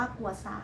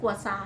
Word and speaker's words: กัวซา: นะ คะ ใช้ อ่า กด หา คำ ว่า กัวซา นะ คะ ก็ จะ มี วิธี ี การ